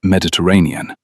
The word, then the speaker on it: Mediterranean: correcting her pronunciation of Mediterranean. "It has 5 syllables, Rosie, not 3, with the weary patience